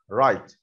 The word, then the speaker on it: write: رايت يكتب، رايت الدبليو في اول الكلمه مش بتتنطق، والاي برضه في الاخر سايلنت، الاثنين دول ما بيتنطقوش بس بيتكتبوا طبعا.